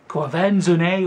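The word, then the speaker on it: Quvenzhané: Quenzefane Wallace.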